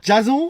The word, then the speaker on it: Jason: Ouais, ça se prononce plutôt Jason comme à l'américaine. Jason.